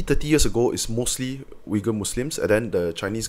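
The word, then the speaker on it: Uyghur: were mostly wiger Muslims wiger which is spelled uy g h uur it seems like ugur but it's wiger they call wiger yeah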